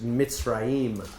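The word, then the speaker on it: מצרים: in your literal translation it says mitzraim is how you pronounce that in your Torah and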